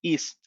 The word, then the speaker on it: EASE: para el diseño de estos dispositivos que se llama el IS. Se escribe EASE, EASE. El IS es un software pago donde ustedes pueden hacer el diseño de los sistemas de audio evacuación.